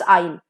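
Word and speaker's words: aisle: and this is obviously pronounced as आइल okay S का pronunciation नहीं होता है आइल एस E silent year now the first L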